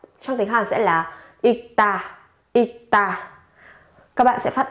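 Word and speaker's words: 읽다: Trong tiếng Hàn sẽ là ikta, ikta. Các bạn sẽ phát âm là ikta. Gấp đôi phụ âm tờ ở cái âm tiết đằng sau lên.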